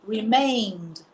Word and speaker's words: remained: Nós não formamos uma outra sílaba. O mesmo acontece com o remain. Então, nós falamos remained.